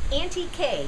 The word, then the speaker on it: Anti-que: Hi, I'm Auntie K yard sales arena. That's an N ti q like antique but pronounced antique.